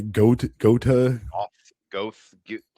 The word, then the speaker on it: Goethe: How do you say Goethe? Goethe. Off. Goth. Goat. I think it's pronounced Johann like Wolfgang von Goat.